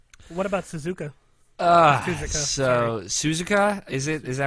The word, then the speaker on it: Suzuka: Suzuka, So Suzuka, is that right?